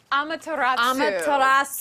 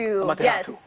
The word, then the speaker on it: Amaterasu: Oh, Amatarasu. Amaterasu.